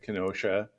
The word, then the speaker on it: Kenosha: a few years ago from Kenosha, which is the proper way to say it, Kenosha.